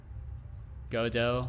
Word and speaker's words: Godot: all not at all i say it very swedishly godo like dojo how do how do you